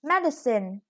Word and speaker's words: medicine: And this is medicine. The stress is on the first syllable.